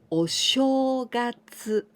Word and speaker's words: お正月: Here we pronounce sho, お正月, お正月, New Year.